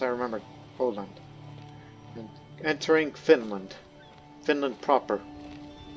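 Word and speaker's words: Öland: That's how it's pronounced. I remember. Oland.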